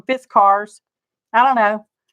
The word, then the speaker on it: Fiskars: these are business cards Fiskars I say Fiskars and a lot of people on the youtubes call them fist cars I don't know pronouncing